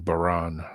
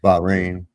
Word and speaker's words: Bahrain: Fifth Fleet uh HQ in Bane. Bahrain. I'm saying it wrong. Bahrain.